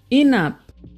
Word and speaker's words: enap: For example, brother is pronounced brata, enough, enap, before, bipo, shark, sak, stand or stand up, sanap.